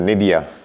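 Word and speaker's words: Nyiida: All right, thank you very much, Crystal Felix, and how you pronounce it? Naida, N-Y-I-I-D-A, Naida.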